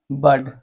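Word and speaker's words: word: तो बर्ड कैसे पढ़ेगा डब्लू से हुआ होता है ना आर से और डी यहां पर वो साइलेंट हो जाता है डब्लू ओ आर डी को क्या पढ़ेगा बड पढ़ेगा बड मतलब क्या होता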